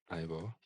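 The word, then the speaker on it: Eivør: Ivo Palsdottir, pronounced Ivo.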